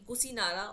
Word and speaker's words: Kusinara: achieved his mahaparin in kusinara or KUSI nagra so you can uh the both both pronunciations is correct so you can see